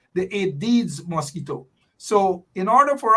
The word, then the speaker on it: Aedes: And then the second type that deals with dengue it is pronounced Aedes, the Aedes mosquito.